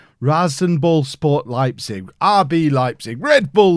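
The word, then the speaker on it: RasenBallsport: be taking over at I'm not gonna try and say it right race race I am gonna try and say apparently right rosin ball sport Leipzig RB Leipzig Red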